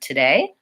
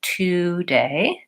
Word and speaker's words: today: that in this word people will often be pronouncing it as to day rather than today so we see that the first vowel and this word is Val schwa it sounds like up and the quick fix for that is to think of the syllables and think about lengthening on day and shortening and being light on the syllable for two so saying today rather